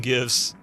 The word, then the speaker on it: GIF: GIF should be pronounced with a hard G because the G stands for graphics.